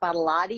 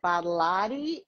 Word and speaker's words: Badolati: But my mom taught me to reverse Badolati and lot of body. And she said, if you tell people it's a lot of body and then just flip it, Badolati, people will pronounce it